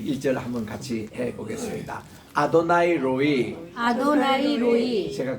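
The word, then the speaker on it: רֹעִי: 아도나이 로이 거기 액센트가 있고 여호와는 나의 목자시니 그 다음 앞에는 로이 할 때는 R입니다. R 로이 이렇게 R 발음을 굴려주시고 그 다음 나오는 로는 L입니다.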